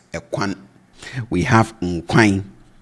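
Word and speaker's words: nkwan: We have nquine, and I say nquine, not nquan.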